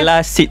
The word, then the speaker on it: Placid: Plasid atau Plasid sih bacanya sebenarnya? Plasid. PLACID. Orang ramai confuse sebab plastik lah.